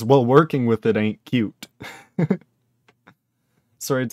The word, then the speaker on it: Qt: working with it ain't cute sorry it says also QT is pronounced like cute it can be it